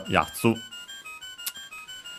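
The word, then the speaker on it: やつ: And yeah, accent on the first syllable, yatsu.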